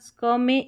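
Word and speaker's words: scheme: यहां पर देखिए ई एम ई है ना तो ईम पढ़ा है यहां पर। ठीक है? तो ये एस एच तो स्क हो गया। स्क में ईम को जोड़ा तो स्कीम बन गया।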